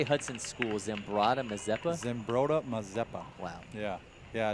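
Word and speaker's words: Zumbrota-Mazeppa: Zimbrota Mazeppa.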